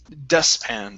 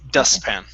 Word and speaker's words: dustpan: So this is dustpan. So skip over that T. Okay, whenever you have a T that's trapped between two consonants like that, we don't really pronounce it. So it's dustpan.